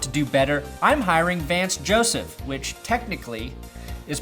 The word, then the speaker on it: Joseph: need my restaurant to do better I'm hiring Vance Joseph which technically is pronounced Vance Josef if you want to be correct about it